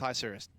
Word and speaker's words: Isurus: It's Isurus. Go look up the pronunciation.